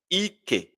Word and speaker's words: ike: But look at this sound now. Ike, Ike, high, low, K, A, high, high, power, Ike.